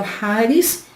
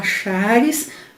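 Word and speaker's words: χάρις: com graça que o rares muita gente fala shares mas a pronúncia mais para um rares quando fazemos apenas o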